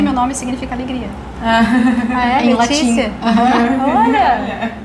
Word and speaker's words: Laetitia: Em Letícia. latim. Olha! Escreve Laetitia, quer dizer alegria. Olha, Laetitia. Laetitia, né? Laetitia. Que fala Letícia. Mas se escreve com T.